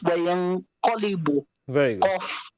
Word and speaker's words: قاف: Qaf. وينقلب. It's not وينقلب, it's وينقلب. Very good. Qaf. You have to pronounce the qaf, not a kaf.